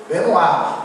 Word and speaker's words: Benoist: Vocês que vão muito para a França, como é que você lê isso em francês? A Maristela vai. É Benoit ou Benoist? Benoit. É que eu pensei, eu leria isso em francês Benoit.